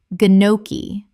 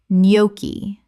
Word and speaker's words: gnocchi: Common mispronunciation, ganochi or nochi. Correct pronunciation, nyoki. The g is completely silent. This is another Italian word.